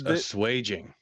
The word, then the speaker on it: assuaging: it means a swage according to google it's pronounced as swage looks funny too many